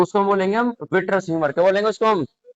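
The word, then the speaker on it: vitreous: क्या बोलते हैं तो उसको हम बोलेंगे हम विटरस ह्यूमर क्या बोलेंगे उसको हम तो भैया इसकी स्पेलिंग है वी आई टी आर ई ओ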